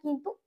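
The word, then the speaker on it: कौन: কয় ঔকার দন্তান কয় ঔকার দন্তানটা কি বলবো কৌন বলবো নিশ্চয়ই না কি হয় অ এর মত উচ্চারণ হয় তাহলে কি হবে কন যেহেতু ঔকারটা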